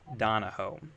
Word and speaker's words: Donoho: ever actually asked you don'know this is Andrew Donahoe Andrew was the director of the hype music